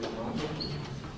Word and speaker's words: Matos: Matos?